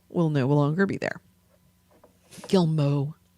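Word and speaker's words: Guillemot: no longer be there gilmo that's how it's pronounced but what is okay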